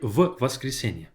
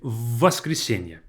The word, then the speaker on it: воскресенье: Notice how I say this. I don't say в воскресенье. I say воскресенье. As if this v is double in pronunciation, no pauses whatsoever.